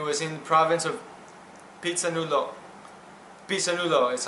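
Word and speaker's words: Phitsanulok: So that was one of those teams, and it was in the province of Pisanulo is how you say it, northern Thailand.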